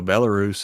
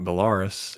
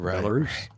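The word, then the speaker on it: Belarus: scenes and sure enough that's the way they pronounce it is Chernoo and I was like makes sense because you know Bellarus is not Bellaris, it's Bellarus.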